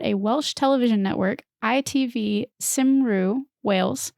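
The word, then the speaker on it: Cymru: network ITV simru Wales it's hard to pronounce because it's spelled c ym r you but I think I got there and it's never pronounced the way you think it is cuz it's Welsh so Ray devised a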